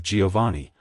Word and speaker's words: Jovanni: It's pronounced as Giovanni. Giovanni. Giovanni. To pronounce it correctly, emphasize the vowel syllable and make sure to stress the ee at the end.